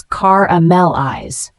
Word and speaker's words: caramelize: l i z e is a verb pronounced as caramel eyes it means to cook